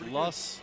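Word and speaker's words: Loess: honey loose heels honey it's less healthy less like you say it like l-u-s-s plus well it looks like lows to me so the loss hills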